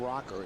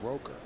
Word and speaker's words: Roker: clarification on terrence's name it's not rocker it's Roker roer pronounce roer t